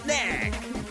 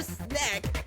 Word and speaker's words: Snek: their said game, Mecha Snack. And it's really called SNEK, just in case somebody thinks I said it wrong.